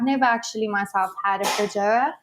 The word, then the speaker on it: feijoa: But the I've never actually myself had a feijoa. How do you say it again for me? Feijoa.